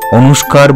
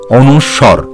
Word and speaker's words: অনুস্বর: এগুলিকে অনেক সময় অনুস্কার বা অনেক কিছু বলা হয়ে থাকে, সেগুলি সবই ভুল উচ্চারণ, তুমি সঠিকভাবে উচ্চারণ করবে অনুস্বর।